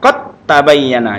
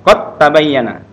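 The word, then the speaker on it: قد تبين: Jadi qad tabayyana dibaca qad tabayyana. Jadi dalnya hilang ya. Langsung ke suara ta, masuk idgham, masuk suara ta langsung qad tabayyana.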